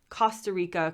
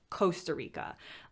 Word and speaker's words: Costa Rica: a little bit but they pronounce the o not as a coast but as cost costa rica costa del sol um and in the us we use a slightly different pronunciation and we would almost unanimously just say costa rica um i love these